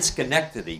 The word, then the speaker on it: Schenectady: You were in Schenectady previously, Schenectady, right?